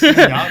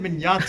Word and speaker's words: Mignogna: Like, for so many years, people have never really knew how to pronounce Vic Mignogna's name. Yeah, no. It's Mignogna. Wait, it's Mignogna? Mignogna, yeah.